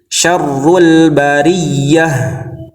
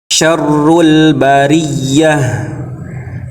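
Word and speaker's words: شَرُّ الْبَرِيَّة: pada keadaan dua ini adalah dengan cara menekan huruf wau bertasdid atau Ya bertasdidnya seperti ini syarrul Bariyah innahu kaana tawwaba jadi ingat ya cara baca pada keadaan ini adalah dengan ditekan jangan ditahan syarrul Bariah innahu kaana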